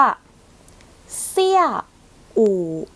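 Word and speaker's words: 下午: 1 คำ นี้ ค่ะ เรา จะ อ่าน ว่า เสี้ย อู่ เสี้ย อู่ เสี้ย อู่ จะ แปล ว่า ช่วง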